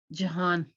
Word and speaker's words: Jahan: But when you say the pronunciation, did you say like Johan? How'd you say it? Jahan.